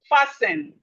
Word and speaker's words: fasten: We have fasten. Fasten. Fasten. The T here is silent.